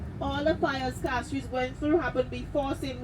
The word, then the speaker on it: Castries: It is rightly pronounced cast.